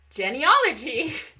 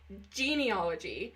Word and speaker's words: genealogy: Do you make it sound like a pair of jeans? Or a lady's named Jen?